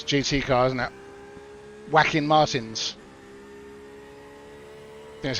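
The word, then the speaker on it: Joaquin: Whacking Martins. I think that's how you pronounce the name. Whacking? Like Whacking Phoenix, right?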